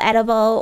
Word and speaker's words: Edoughble: So it's spelled, it's like Edoughble, but pronounced Edoughble because it's edible dough.